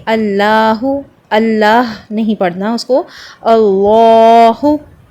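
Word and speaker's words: الله: پڑھنا اس کو، اللہ، اور اسی لام کو آپ نے 2 کاؤنٹ تک لمبا کرنا ہے، کھینچ کے پڑھنا ہے، اللہ۔ اٹ از not like this, Allah. 2 count تک آپ نے لام کو لمبا کرنا ہے، اس کو ہیوی پڑھنا ہے، 2 حرکت تک لمبا کرنا ہے، 2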